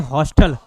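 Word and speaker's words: hostel: क्यों, हॉस्टल को कैसे प्रोनाउंस करते हैं, हॉस्टल, हाँ आ जाता है, ठीक है।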